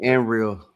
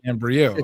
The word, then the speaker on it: Ambriel: It's actually Ambriel. That's her real name. Okay, kind of Ambriel.